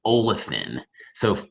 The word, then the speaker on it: olefins: So see polyolefins, it's not PH like dolphins, it's F like the other way F is pronounced, you know what I mean? So it's olefins like that.